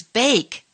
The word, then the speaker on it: bake: i'm being silent sir sometimes i am silent e when i come at the end of some words you can't hear me at all like the words bake and cake when you write these words i'm there but when you speak the words i'm not there at all i'd like to hear